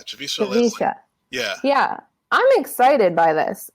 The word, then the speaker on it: Javicia Leslie: announcement, and I believe her name is pronounced Javicia Leslie? Yeah, Javicia Leslie.